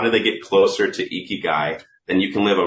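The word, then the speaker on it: ikigai: every Creator makes this graph it's called an eeky guy it's spelled II G AI if they find their eeky guy it's the it's when all four of those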